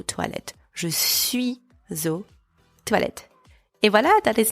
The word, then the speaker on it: aux: Use O with a silent X at the end if the name of the place is plural. Je vais aux toilettes. Je suis aux toilettes.